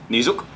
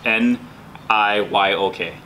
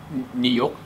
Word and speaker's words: niyok: N-I-Y-O-K. No. Niyok. Niyok. So that's what I thought yeah. too. That's what Jason thought too. I'm not gonna try. New York, like the city, right?